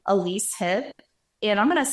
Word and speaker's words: Elyse Heob: It's my name, Elyse Heob, and I'm going to spell it for you because people get it wrong, and I expect that.